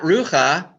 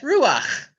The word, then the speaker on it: ruach: It's ach. It's not cha. It's ach. My favorite word. That's not rucha. That's ruach.